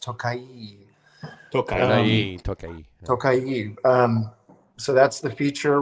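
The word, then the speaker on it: Tokaji: Yes, we have a few neighbors who are Hungarian, and they told me it's pronounced Tokai.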